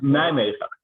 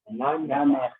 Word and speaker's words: Nijmegen: And hopefully next year we'll all see you in Amsterdam or in Nijmegen. Some town I can't pronounce. Say it again. Nijmegen. Nijmegen.